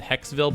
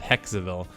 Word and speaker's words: Hexaville: place in Hexaville, and I always pronounce it Hexville, but in the animation they pronounce it Hexaville.